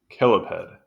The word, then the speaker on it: cheliped: saying that for correctly chiped pronounced kiped okay kiped the let's